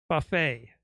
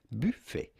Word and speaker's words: buffet: go about pronouncing it in French we would say buffet buffet but in English or American it is generally pronounced Buffet right Buffet per Dengue